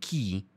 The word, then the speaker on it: tjie: word the we say i'm gonna pronounce it as key but it's either t